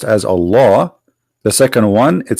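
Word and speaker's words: الله: says al hamdu lillahi laughs the first one pronounced as a law the second one it says Lee laughs okay so what we have now let us make it simple here we have all law in the first verse and in the second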